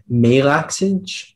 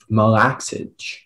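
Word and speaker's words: malaxage: yes there is uh there is melaxage but there's also molexage melaxage uh can i have all the information again yes the word is melaxage also malakage it's a noun that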